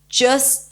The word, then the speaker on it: just: a little bit but the word just is tricky it's usually reduced and when the T appears after an S it is a little flaky so you don't always hear it in this case you can drop the T don't tell anyone I said that but you can sort of drop the T and connect it quickly to the next word just a little bit